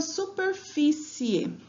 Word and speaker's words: superfície: Na palavra superfície, eu já tenho acento, mas vamos chamar a palavra para identificar, né? Superfície. Então, qual é a sílaba tônica dessa palavra? Fi.